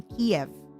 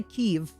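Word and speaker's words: Kyiv: My flesh woman was born in Kiev.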